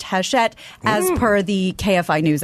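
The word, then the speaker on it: Hachette: it's not happy yeah it's spelled hatchet with a CH but I think it's pronounced hash shet as per the KFI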